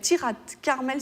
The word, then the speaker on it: Tirat Carmel: Il y a un jumelage avec Tirat Carmel, si je prononce bien, c'est tout à fait ça.